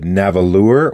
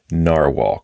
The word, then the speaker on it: Nahvalur: you think is it navalure or is it still narwhal so I did confirm different spelling but you still pronounce it narwhal because I've heard both